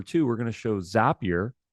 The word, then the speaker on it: Zapier: And then we're going to show, number two, we're going to show Zapier. It's pronounced Zapier, not Zapier. We know that because the founder told us it's Zapier like happier.